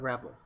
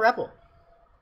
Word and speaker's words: REPL: That's the Node REPL.